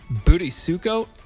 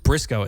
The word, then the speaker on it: Burisuko: A lot of people say my name Booty Suko. It's not Bisuko. It's just B. It's just Brisco in Japanese. So, it's just Brisco like Brisco son. So, it's not it's not Burisuko.